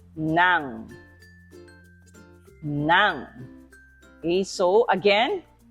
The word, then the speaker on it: ng: say that for me NG is pronounced as Nang now okay so again Nang manga and ah